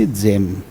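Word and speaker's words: gem: जी ई M means जेम।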